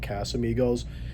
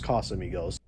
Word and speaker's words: Casamigos: I think there have been a few times where I said Casamigos, and I know the correct pronunciation, but I'm so used to my customers